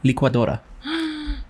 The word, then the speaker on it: licuadora: L-I pronounces that. It's not. It's because the I sounds like E. But it's E, and then sometimes the C makes a Q sound. So, and then A, qua, Dora, and then...